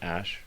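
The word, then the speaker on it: Æ: letter X and then the AE is like pronounced ash he's laughing he's like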